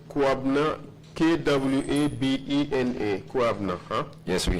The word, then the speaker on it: Kwabena: Kwabna.